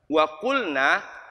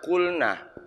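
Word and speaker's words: وَقُلْنَ: para tamu ini berkata waqulna ini mereka berkata mereka perempuan berkata ini hati-hati membacanya Jangan dibaca kul nah beda kan kali ini nanya dua harokat kalau ini satu Apa bedanya kalau ini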